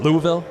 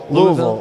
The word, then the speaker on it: Louisville: Louisville. Louisville. Louisville. I say Louisville, but it's a Louisville.